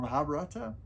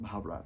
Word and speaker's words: Mahabharata: the Mahabat or or Mahabharata. It's it's spelled Mahabharata, but I think the the author pronounces it without the A at the end. So I think it's it's Mahabata.